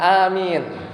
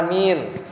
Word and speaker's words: amin: Bacanya gimana? A-nya panjang ya. Amin atau amin atau amin apa? Amin. Yang mana? Amin. Ya, jadi A-nya panjang, Mi-nya juga panjang.